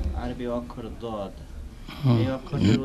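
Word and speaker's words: ضاد: দও নয় জও নয়, তবে মাঝামাঝি, জয়ের কাছাকাছি, মাঝামাঝি, দয়ের কাছাকাছি নয় বরং, বা দালের কাছাকাছি নয় বরং জয়ের কাছাকাছি।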